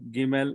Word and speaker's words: Gimel: Now, if you see here, Gimel, it gives a G sound in got. A G sound in got. So the sound here it is G. And numeric value of Gimel is 3.